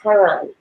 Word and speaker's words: Chiron: But I noticed in Wikipedia it says Chiron, pronounced K-A-R-E-E-N, which is my name. So it's like Chiron, that's how it's.